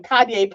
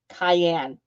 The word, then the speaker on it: cayenne: I mispronounced them. Oh, NWI, like, she was on the phone with me, and she goes, Cayenne. Cayenne. They're cayenne peppers.